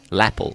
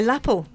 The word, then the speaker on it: lapel: big mistake grander lapel my laple do you know what my laple is Apple no it's a lapel lapel well this is a problem with English uh word uh the the word stress okay where does the stress fall on what on on